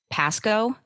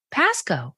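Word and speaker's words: Pascoag: Pasco. That was close. Yes. So, the G the G is kind of silent. I've always said it. Pasco. Pasco.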